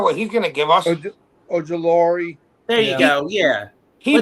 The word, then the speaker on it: Ojulari: Olugiore? How do you say his name? The guy from the Giants. Yeah, I was gonna say we got that kid. We don't know what he's gonna give us. Ojulari.